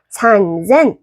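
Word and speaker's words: 三千: 산젠 롭야크 주요엔 산젠 롭야크 주요엔 넨.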